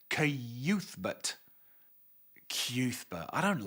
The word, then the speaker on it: Cuthbert: It annoyed me when I found out, because I had been pronouncing his name in my mind as Cuthbert until Shimi, later on in the book, actually sounds it out and pronounce it as Cuthbert.